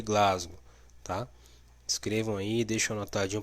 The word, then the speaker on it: Glasgow: certo então vamos lá pronunciação correta a escala de coma de glasgow tá inscrevam aí deixa